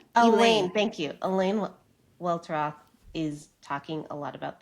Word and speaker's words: Welteroth: Elaine Welteroth is talking a lot about this on Instagram